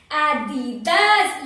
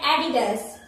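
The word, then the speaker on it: Adidas: आओ अब एडिडास, ये आप प्रोनाउंस कर चुके होंगे इसका, तो एडिडास, एडिडास, एडिडास, एडिडास, वो जो आदि की तरह लग रहा है, आदि का कोई नाम है इसलिए एडिडास। बहुत जिन ऐसे प्रोनाउंस कर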